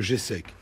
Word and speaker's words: GESEC: parler d'abord qu'est ce que c'est que le g sec c'est quoi question simple alors imaginez vous soyez